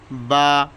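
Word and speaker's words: ب: আলিফ আলিফ আলিফ আলিফ আলিফ বা বা দুই ঠোট থেকে বা উচ্চারণ হয়।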